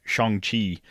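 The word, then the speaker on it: Shang-Chi: i still haven't seen chongqi um to pronounce it as they do uh i still haven't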